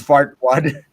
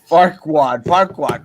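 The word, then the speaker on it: Farquaad: It's fartwad. Farquad. Ah! I said it wrong.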